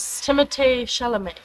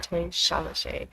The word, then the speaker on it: Timothée Chalamet: Timothée Chalamet. Oh, That's actually how you say his name. Timothée Chalamet.